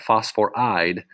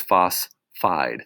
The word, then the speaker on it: phosphide: changes to ide but again we're losing the whole auras it's not phosphor eyed it's phosphide now most of these are